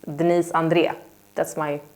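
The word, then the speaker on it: Andrée: I always say Denise Andre but in Swedish it's Denise Andrea that's my how I pronounce it so Andrea in Swedish not Andre um okay here is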